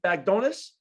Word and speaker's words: Bagdonas: is it Bagdonas? That's shockingly perfect.